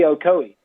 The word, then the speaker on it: Ocoee: And Louis Grizzard, the famous wit, humorist, he wrote a story about, how do you pronounce that river where you said you did rafting on? Oh, the Ocoee.